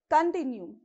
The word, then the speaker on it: continue: Continue, continue, okay? You have to stress on T, continue.